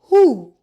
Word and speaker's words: who: A just wh says the W is silent. Who BT says T the B is silent.